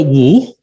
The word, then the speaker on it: Ng: Yeah, that's a Cantonese pronunciation. And so actually my Taiwanese friends will call me Dr. Wu, because that's the proper Mandarin pronunciations. And my American friends will address me as Dr. Ng because there's no vowel sound in NG and my last name is NG.